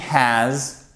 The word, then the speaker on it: has: à vous de répéter she has she has et pas chez elle quand vous faites très